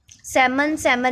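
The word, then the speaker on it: salmon: Next है सेमन में L silent, condemn में एन साइलेंट, फॉरन में जी साइलेंट एंड नम में बी साइलेंट।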